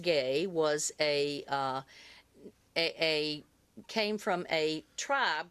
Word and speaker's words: Gue: I knew that it had origins from the area of the Caribbean, but I looked it up, and actually, GUE, pronounced gay, was came from a